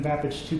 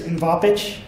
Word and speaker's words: MVAPICH: So of course there's like MVAPICH, right, which is the way I tend to say it. There's MVAPICH. Some people just see a mix of letters there and just give up and try to spell it out, right, letter by letter, MVAPICH, right?